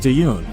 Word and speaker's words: Taehyun: I believe it's pronounced Taehyun.